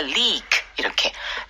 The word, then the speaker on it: leak: 네, leak. Right. 네, leak. 이게 길게 발음합니다. Leak 이렇게.